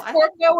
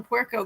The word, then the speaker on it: puerco: He says Porco and they say Puerco and correct him, huh?